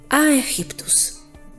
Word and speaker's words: Aegyptus: Viene de la traducción al griego de la ciudad de Memphis, como se pronunciaba en aquel entonces, Aegyptus.